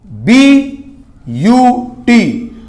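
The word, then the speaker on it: but: है चार के लिए बी यू टी बट मत पट देना इसको ब्यूट प्रोनाउंस एशन भी परफेक्ट होना चाहिए ब्यूट ब्यूट सभी के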